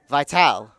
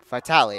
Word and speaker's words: Vitale: It's actually going to be number 5, Joey Vital. Vitale, excuse me. I believe that's how it's pronounced.